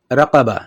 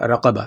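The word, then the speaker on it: رقبة: ادھر دیکھیں جی، تلفظ کی بات ہو رہی تھی تو ادھر پیچھے ہم نے پڑھا تھا رقبہ. ٹھیک ہے جی، یعنی کہ موٹا کاف پڑھا تھا رقبہ تو مطلب اس کا ہوا گردن.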